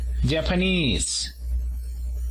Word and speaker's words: Japanese: cuanto a la nacionalidad decimos japanese el acento se encuentra en la última sílaba entonces aquí escribimos una